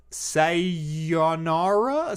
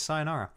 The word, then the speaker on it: Sayonara: gonna pronounce this wrong say your Nara oh sayonara for the switch yeah I just gave up on that one yeah now that I say it out loud oh it's sayonara it is a euphoric